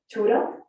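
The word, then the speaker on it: tuğra: One of which is a tura, which is spelled Tugra, which is an Ottoman word referring to the blazon of the Sultan.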